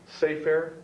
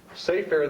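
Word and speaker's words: סֵפֶר: The outer sphere is uh is called seafair. The inner sphere is called sepor. The inner inner sphere is called cipur. All spelled the same pronounced differently. Safeair.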